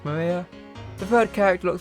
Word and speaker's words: Maria: Of course, this is pronounced Maria.